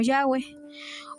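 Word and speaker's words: Yahweh: Y la pronunciación de estas cuatro letras en español son la y, la h, la w y la h, que sonarían como Yahweeh o como lo pronunciaban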